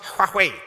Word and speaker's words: Huawei: if you want to call it that or Huawei when I went to China they told me it's pronounced half way I said okay no problem it's a quat